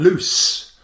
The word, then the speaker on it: loose: You pronounce them slightly differently. You like to say the second one is like a Z, lose. But then loose.